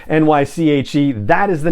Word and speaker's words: Naichi: social media that that character's name is naichi pronunciation nyche that is the name of corn Horn's mother